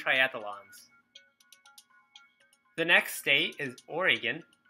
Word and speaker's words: Oregon: the next state is Oregon which I hope I'm pronouncing right I heard you're not supposed to have it rhyme with hexagon so it's not Oregon someone must have told